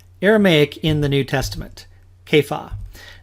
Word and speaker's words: Kepha: in the New Testament Kaya now that may not be the pronunciation we're accustomed to we read in John